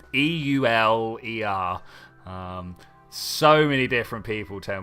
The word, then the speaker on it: Euler: I literally don't know how to pronounce his name. It's Euler.